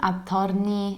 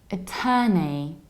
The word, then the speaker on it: attorney: So I reduce the very beginning. I don't say a, I say and then I have long e, ter, and ni. Attorney, attorney. And in the American accent, we have attorney, attorney. And I know that you see the OR and you feel like saying O, but it's a long e.